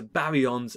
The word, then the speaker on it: baryon: And they're subdivided into baryons and mesons. Think of your syllables. Baryon, three syllables.